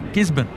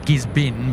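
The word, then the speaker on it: Gisborne: Gisbon like Melbourne. Not like not Gizbin, but or Melbourne, but Gisbon.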